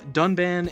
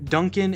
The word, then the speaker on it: Dunban: is just outright incorrect they mispronounce two of the main party members um dunban and Ry saying Duncan and Rain even though they pronounce